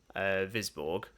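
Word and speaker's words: Wisborg: Once they get back to Visborg, that's how you pronounce it.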